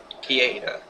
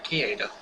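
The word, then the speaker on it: Kida: Kieda, I think is how you pronounce it. Yeah, Kieda.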